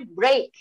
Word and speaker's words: break: Kemudian ada juga EA dibaca, contoh lain EA dibaca E misalnya break. We need a break. Kita butuh break, kita butuh istirahat. Ya kan? Tidak, yeah, tidak break. Bukan brick, membacanya bukan brick.